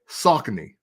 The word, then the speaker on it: Saucony: Because I think overseas, they say Saucony.